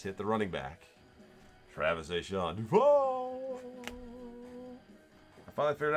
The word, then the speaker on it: Etienne: Travis A'Shaun Duval.